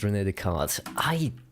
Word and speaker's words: René Descartes: It's pronounced René Descartes.